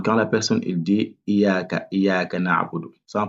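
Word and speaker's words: إِيَّاكَ: Donc là, c'est Iyaka na'budu wa iyaka nasta'in. Nasta'in. Nasta'in. Maintenant, l'erreur à éviter, c'est sur le ya ici. Donc, concernant le ya, il faut bien prononcer le shadda.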